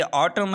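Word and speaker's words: autumn: Number 2 पे देखिए, अगर किसी लफ्ज़ में एम के बाद एन आता है तो एन हमेशा साइलेंट हो जाता है। यहाँ पर देखिए ऑटम है और इसी तरह हेम है।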